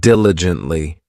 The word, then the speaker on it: diligently: Next, we have diligently. This adverb has four syllables and the stress is on that first syllable diligently.